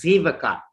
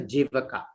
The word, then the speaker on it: Jivaka: Most of our Tamil people pronounce it as Zivaka. Actually, it is Jivaka.